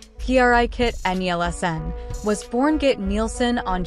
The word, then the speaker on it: Brigitte Nielsen: Bridget neelen whose name in Danish pronunciation sounds like a sneeze P kit nlsn was born get neelen